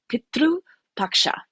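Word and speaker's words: Pitru Paksha: celebration throughout India called Petru Paksha. So Petru so p i t r sometimes there's a u because that's how we pronounce it.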